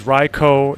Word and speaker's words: Raikou: lucky than average read it as riko if you want to be extra correct hold the o sound and make sure it's not cow it's co Ryo R Co Ryo